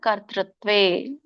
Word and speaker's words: ಕರ್ತೃತ್ವೇ: ಇದ್ರ ಒಂದು ಉಚ್ಚಾರಣೆ ಕಾರ್ಯ ಕಾರಣ ಕರ್ತೃತ್ವೇ. 3 ಪದಗಳು ಬರುತ್ತೆ. ಸೊ ಕಾರ್ಯ ಬೇರೆ, ಕಾರಣ ಬೇರೆ, ಕರ್ತೃತ್ವೇ. ನೋಡಿ, ಕರ್ತೃತ್ವಕ್ಕೆ ತಕ್ಕೆ ಒಟ್ರ ಸುಳಿ ಅರ್ಕಾವಳಿ 2 ಇದೆ. ಕಕ್ಕೆ ಆದ್ಮೇಲೆ ರ ಹೇಳ್ಬೇಕು, ರ ಹೇಳಿ ಆಮೇಲೆ ಅದಕ್ಕೆ ಒಟ್ರ ಸುಳಿ ಹೇಳ್ಬೇಕು, ಋಷಿರು.